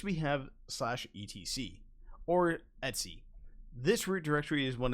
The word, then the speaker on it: etc: directories on your system the etsy folder short for etc and etsy is the common way to pronounce this it's pretty fast and